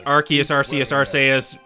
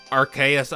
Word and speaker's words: Arceus: Someone was actually mad how I chose the pronunciation for him, and The thing is, technically Arceus was the one that was confirmed, since in Sun and Moon they labeled Project RKS. yeah. Yeah, but it sounds stupid. There I have know been, like- it sounds stupid. What's your point? Well, I mean, it makes sense because archaic. Yes.